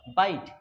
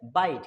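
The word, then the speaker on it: bite: বাইট। বি আই টি। তাহলে উচ্চারণ কি হয়? বাইট।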